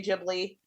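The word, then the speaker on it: Ghibli: moment and I love Studio jibli same or Studio gibly depending on how you want to pronounce it I tend to go with how Miyazaki pronounces it and he says jibli yeah so I will say jibli but I you can't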